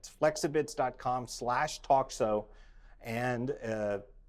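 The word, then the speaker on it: Flexibits: ex AI bi TS calm like it was flex I bids but they pronounce it flexible flexible calm slash talk so and again 14-day free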